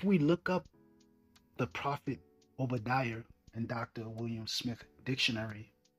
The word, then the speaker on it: Obadiah: So Obadiah means servant of Yahweh. And the pronunciation of Obadiah would be Abadiah, Abadiah.